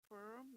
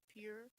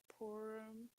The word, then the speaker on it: Purim: off of what I read, but Oh, you pronounce it Purim, not pure? Yeah. Pure? Purim.